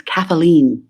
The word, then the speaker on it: Kathleen: and I'd be like no it's kathleene I always wanted to add an extra syllable for some reason well